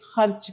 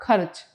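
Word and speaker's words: ख़र्च: में बोलते हैं पर ज्यादातर लोग उसका तलफ्फुज या उसका उच्चारण क्या करते हैं खर्चा खर्च यह गलत है खर्च सही तलफ्फुज है बोलिए खर्च गुड रोज किसी अजनबी मुसाफिर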